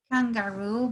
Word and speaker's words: kangaroo: Kangaroo, be careful with the pronunciation because this double O are going to have the sound of a U. See, kangaroo.